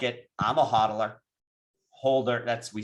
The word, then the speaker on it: HODL: I'm a hodler, holder. We say hodl. HODL is hold. That's how we spell it in crypto.